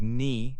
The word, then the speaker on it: knee: Other words with this pattern include knee, knock, and knob. Remember, the K is quiet at the beginning of these words.